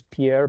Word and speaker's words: Pierre: Pierre, Pedro, Pedro. Um actually this one since I'm from South Dakota, this is pronounced Pier.